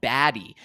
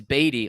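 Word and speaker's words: Badie: year saying oh yeah my name's pronounced uh uh batty because some people were calling him baddy and he was like no it's batty well no now he changed it to Beday which is very interesting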